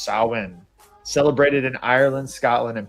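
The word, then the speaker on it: Samhain: Halloween traces back over 2,000 years to the ancient Celtic festival Sa Sam pronounced sin.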